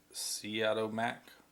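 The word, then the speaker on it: Siodmak: has two versions on it one by Robert Seattle Mack that's how you pronounce it and one of my Don Siegel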